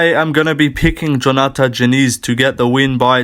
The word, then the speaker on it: Diniz: His name's pronounced with a J for some reason. But yeah, I am going to be picking Diniz to get the win by TKO.